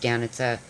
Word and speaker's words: Danica: And it's spelled Danica, Danica, but she's Croatian. It's pronounced Danica.